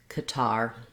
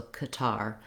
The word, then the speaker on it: Qatar: this country name was Qatar. That was with second syllable stress and a schwa in the first syllable, so Qatar.